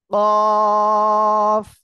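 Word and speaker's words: ق: দেখেন, এই অক্ষরটা জিহ্বার গোড়া তার বরাবর উপরে তালুর সঙ্গে লাগিয়ে উচ্চারণ হবে। কফ।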